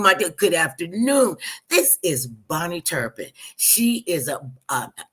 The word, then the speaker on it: Bahni: Bonnie that I know her name is spelled b a h ni I Bonnie and still pronounce the same way Bonnie Turpin she is a